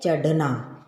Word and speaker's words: चढ़ना: देखो अगर बिंदी नहीं होती तो हम क्या पढ़ते इसको, चढ़ना। सड़क, पढ़, पर जब बिंदी लग गई तो उसका उच्चारण बदल गया, चढ़ना।